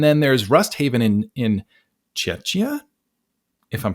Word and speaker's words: Czechia: And then there's Rust Haven in Czechia, if I'm pronouncing that right. I don't think it's Chechnya. I think it's Czechia.